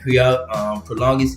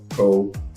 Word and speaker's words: Prologis: Also, and Prolongis is or Prologis.